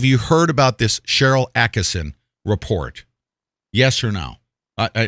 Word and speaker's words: Attkisson: on the internet from sharyl Attkisson atkinson Attkisson right I always say her name wrong sharyl Attkisson on this